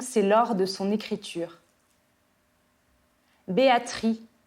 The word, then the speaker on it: Béatrix: Béatrix a prononcé comme perdrix et dicte le père à l'origine du choix de cette nomination où il faut refouler le X.